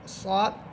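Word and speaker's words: ص: আর সদ এটা মোটা হরফ, আমরা আকারের উচ্চারণ ছাড়া পড়ব। সিন জবর সা, সা আকার দিয়ে পড়তেছি সা। আর সদ হবে সদ জবর স, মোটা করে স।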